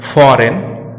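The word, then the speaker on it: foreign: अब बात जी की करें तो जब जी एन के पहले आता है तो साइलेंट रहता है, जैसे डिजाइन, फॉरेन, साइन।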